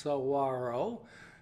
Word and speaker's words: saguaro: thanks for joining me Mighty saguaro cactus pronounced Saguaro scientific name Carnegie gigantia